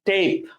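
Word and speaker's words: tape: এখন কিন্তু আমরা এটাকে ট্যাপ বলছি না, আমরা এটাকে বলছি টেপ, টেপ, ঠিক আছে?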